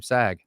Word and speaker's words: Saag: so dr sag and that is the correct pronunciation of your last name sag i made sure i